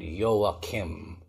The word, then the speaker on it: Joachim: at nagpapasalamat Joakim yung ah yakim na pag binasa mo ay parang jowa ch ay Hebrew pala kaya ganon ang pronunciation yakim Anyway 34 ka pa lang